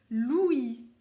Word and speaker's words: l'ouïe: déjà entendu, ça s'appelle l'ouïe. L'ouïe. Comme il y a je crois que c'est le petit frère de Pauline qui s'appelle Louis, mais ça s'écrit pas la même chose, ça c'est l'ouïe.